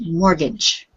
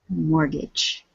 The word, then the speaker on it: mortgage: don't pronounce a letter we don't pronounce the T it's just mortgage mortgage repeat please mortgage good okay and remember